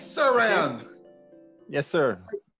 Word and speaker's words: Rayon: I am Rayon, not Rayon. Most persons, they would spell it R-Y-A-N, but mine is R-A-Y-O-N, so it's Rayon.